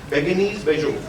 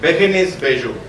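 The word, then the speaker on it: Bérénice Bejo: How do we pronounce the name of the actress? Beguinis Bejo. Beguinis. Yeah. Yeah. Beguinis Bejo.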